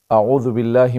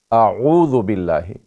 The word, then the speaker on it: اعوذ: دوسرا حرف عین ہے، اعوذ باللہ۔ لیکن اکثر غلطی یہ ہوتی ہے کہ ہم پڑھتے ہیں اعو اعوذ، تو یہ تلفظ اس کا غلط ہے۔ اعو حمزہ زبر عین واو پیش عو، اعو اعوذ باللہ من الشیطان الرجیم۔